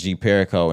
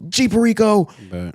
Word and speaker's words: G Perico: when this tape dropped at first I thought it was Jeep Perico until I'm finally hearing DJ Drama Go Jeep Rico um I've probably been